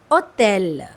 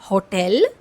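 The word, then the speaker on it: hôtel: और इन the middle और एंड it's always silent हां सो a example is ओतेल इट्स नॉट होटल इट्स ओतेल means letter ash इज़ a silent letter here is well.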